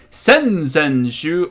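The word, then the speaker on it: 先週: since you last week sense and shoe the week before last notice these words and in shoe shoe it's elongated shoe and that means a week so cone shoe sends you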